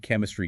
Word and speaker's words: chemistry: Ens chemistry again. K sound.